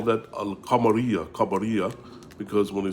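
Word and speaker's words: القمرية: is they call that al kamaria kamaria because when they say kamar which means moon, they say al kamaria, you pronounce the lamb.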